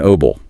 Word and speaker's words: herbal: We say herbal tea. But, if you are aiming for a British English accent, the H is strongly spoken. Herbal tea. Both are completely correct and widely understood.